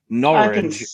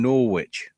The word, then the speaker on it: Norwich: an American person saying norch I'd say is pretty easier to say than Norwich Oh you mean like just say that it rhymes with porridge yeah that's an easy